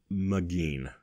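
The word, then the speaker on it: Maghine: and I have mcgeen so that is m a g h i n e that looks different it looks science fictiony it looks like it might be a real name and it rhymes with machine so that was easy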